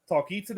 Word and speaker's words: Talkeetna: I'm going to pronounce it wrong. Talkeetna. For 37 years, it's Talkeetna.